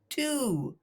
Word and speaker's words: two: should be pronounced whoa but it's not it's pronounced two yeah two and it's the number between one